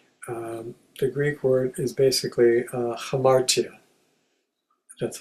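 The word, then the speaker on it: ἁμαρτία: don't speak Greek, the Greek word is basically hamartia. That's how it's pronounced, hamartia.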